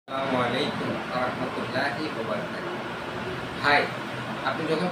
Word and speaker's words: আসসালামু আলাইকুম: ভ সালাম দিতে পারবেন আপনি বলেন আসসালামু আলাইকুম ওয়ারাহমাতুল্লাহি ওয়াবারাকাতুহ এটা হল সালামের সঠিক উচ্চারণ আর এই সালামলাইকুম সালামু আলাইকুম এটা কিতা দিলেন সালাম শব্দের অর্থ হল